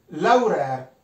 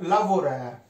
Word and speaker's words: lavurêr: Laurer o lavorer, anche questa qua, io la stavolta la V l'ho scritta, però è una V che molti non pronunciano, neanche io a volte non la pronuncio, dipende come mi gira,